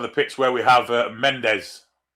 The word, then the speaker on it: Mendes: Far side of the pitch where we have Mendes. Of course, they pronounce that different. Mange. Because his name was Mendes, I guess.